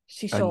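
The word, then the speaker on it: 師匠: Do you happen to know what this guy's pronounced as? Yes, she, as in master, Hi. as in Shisho.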